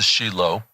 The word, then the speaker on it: Shiloh: and I moved to Shilo or Americans would call it Shiloh but we use the proper Hebrew pronunciation Shilo and I I moved